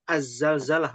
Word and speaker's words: Az-Zalzalah: Apakah kalau kita membacanya dibaca surah Alzalzalah atau Azzalzalah, Om Ahad? Azzalzalah. Azzalzalah. Azzalzalah. Pakai Z. langsung ke Z, Ustaz.